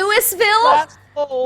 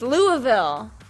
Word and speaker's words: Louisville: That is not how anybody says it. Louisville slugger. I'm not gonna say Louis because that's just It's annoying. Louisville. That's how you say it in the I'm not song. gonna say it, Louis. I'm not gonna say it like that. It's Louisville. No. Louisville, actually, probably.